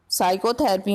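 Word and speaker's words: psychotherapy: साइकोथेरेपी में P letter silent है।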